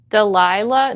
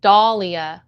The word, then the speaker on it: Dahlia: Delilah? No, my name is Dahlia. Delilah is a different name entirely. But it is a common mispronunciation.